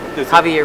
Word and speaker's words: Javier: How do you pronounce Javier's name? Is it Javier Reyes?